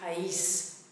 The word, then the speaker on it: país: case it splits them up again into two syllables. I've got three examples of this. The word for country is país, país, country, nation, country.